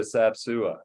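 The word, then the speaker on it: Sap Sua: to dinner we are going to go to sapsua if that's how you pronounce it that is how you pronounce it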